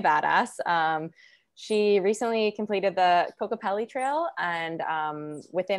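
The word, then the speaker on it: Kokopelli: She recently completed the Cocopelli Trail and it's Cocopelli, right? That's how you pronounce it?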